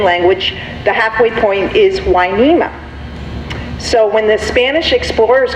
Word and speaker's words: Hueneme: working for the Spanish, they couldn't quite pronunciate Hueneme because the W in the language, you think of huevos, rancheros, that sort of thing. So they translated Hueneme into Hueneme. And that's how we got our name, and we've always been